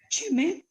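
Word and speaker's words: שְׁמֵהּ: You noticed first that because you've got that shiva at the first thing in the word, that's a separate syllable. So sheme, 2 syllables. You also noticed that dot in the hey doesn't mean anything.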